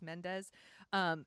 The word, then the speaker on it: Mendes: it's directed by Sam Mendes it's how you pronounce it Mandy's Mendes who's actually nominated for directing this year for